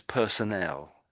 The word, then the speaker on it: personnel: there's two words which are similar and they're pronounced slightly differently. So this one here is personnel.